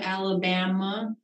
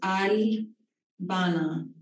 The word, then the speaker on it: Albana: Some people pronounce it Alabama. Some people pronounce it Albana, but it is pronounced Albana.